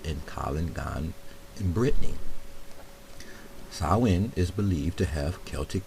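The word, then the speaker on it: Samhain: I guess Sam ha samwin s sawin not Sam hannes pronounced sawin sawin sawin so in Irish pronunciation son is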